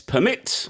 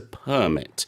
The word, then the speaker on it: permit: as a verb it's permit if we use it as a noun like in this case it's a permit and a permit is